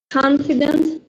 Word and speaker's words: confident: As you can see stress is on the first syllable. So confident, not confident or confident that many Vietnamese are trying to pronounce like this, but confident. Okay, confident is correct.